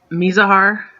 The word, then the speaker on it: Mizahar: And sometimes I get my pronunciations a little confused too, so don't worry about it. Anyways, it's Mizahar, but a lot of times we say Miz when we're just shortcutting it.